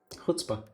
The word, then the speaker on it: chutzpah: Oh, I mispronounced it, didn't I? Guttural What's a guttural Chutzpah.